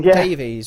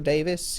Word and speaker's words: Davies: how to say it is it Davies or Davis he spelled Davies but everyone seems to be saying Davis every wealth person I met during the Lion's tour said it's John Davis okay they kept from getting annoyed at said it Davies okay well it's spelled